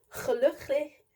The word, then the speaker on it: gelukkig: Dutch is very complicated because like the G, the G kind of like gets you, because I realize that like the G is pronounced like the same way as the CH in German.